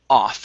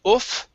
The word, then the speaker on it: off: great uh and your last word is off instead of oof okay so this is